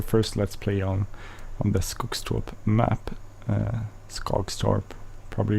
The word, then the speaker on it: Skogstorp: This is the first Let's Play on the Skogstorp map. Skogstorp, probably you would say with an English or American accent, but it's Skogstorp.